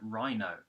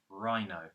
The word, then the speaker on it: rhino: Next is simply the word rhino, just like the animal, rhino. So the H is silent.